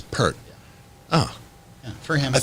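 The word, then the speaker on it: Peart: from canada right yeah is it pier or pert it's pert oh yeah for him i thought you know yeah i've seen people online reprimanded for pert i thought it was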